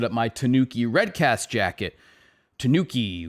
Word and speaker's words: Tanuki: my tanooki redcast jacket tanuki which i believe is how you say that a lot of people like to correct my pronunciation of non-english words um tanooki all right so it is tanooki so anyway when i